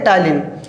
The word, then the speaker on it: ptyalin: टायलिन का spelling देखो, PTYALIN। लिखा है टायलिन, लेकिन इसको पढ़ेंगे टायलिन।